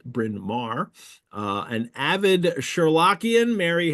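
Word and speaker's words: Bryn Mawr: I'm from Philadelphia so I know how to pronounce brinar uh an avid sherlockian Mary has been invested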